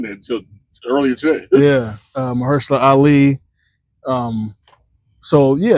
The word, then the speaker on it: Mahershala: How do you pronounce his first name? Mahershala. I didn't know he was in there until earlier today. Yeah, Mahershala Ali.